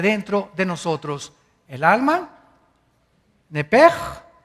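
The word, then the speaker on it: נפש: Esa palabra alma es la palabra hebrea Nepesh, así como suena, N-E-P-E-S-H, Nepesh. La letra o las letras SH en el hebreo se pronuncian en hebreo como J. Entonces se pronuncia Nepej.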